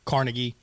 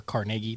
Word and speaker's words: Carnegie: Carnegie or Carnegie, depending on how you want to pronounce it, and Rockefeller and Edison and Ford and all those guys.